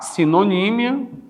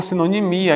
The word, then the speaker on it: sinonímia: Você tem aqui ainda, você estuda a sinonímia, né? Ou sinonimia. Aqui tanto faz você dizer antonímia como antonimia, sinonímia como sinonimia, gente.